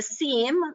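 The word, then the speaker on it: SIEM: information and events management the seam as it pronounced is a centralized view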